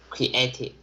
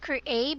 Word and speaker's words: creative: do you read this creative creative creative not create but creative uh different is long